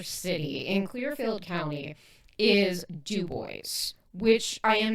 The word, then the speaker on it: DuBois: So I know it looks like Dubois and I know that's how you want to pronounce it, but it's actually Dubo.